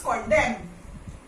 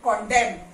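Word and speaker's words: condemn: here and then comes कंडेम कंडेम so where ever M के बाद अगर एन आता है तो एन is silent okay so this is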